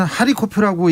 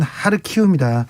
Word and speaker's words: 하르키우: 러시아 사람들은 하리코프라고 얘기하는데 우크라이나 발음은 하르키우입니다. 우리는 우크라이나식 지명을 사용하기로 했습니다.